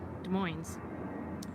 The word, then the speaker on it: Des Moines: where I'm at in Des Moines and we pronounced the Z at the end it's just the way